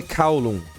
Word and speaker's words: Kowloon: Galera, a pronúncia em inglês é Kowloon. Assim como How, assim como Cow. Kowloon.